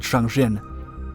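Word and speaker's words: Jangjin: the northeast of korea in its original language the place is actually called zhang jin but the name chozin used in the west to refer to the conflict comes from the mistaken japanese pronunciation the un forces adopted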